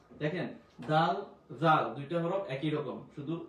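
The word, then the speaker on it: ذ: দাল দাল দাল দাল জাল জাল জাল দাল জাল জাল এই জাল জিবটা আগা থেকে আসবে জাল জাল জাল জাল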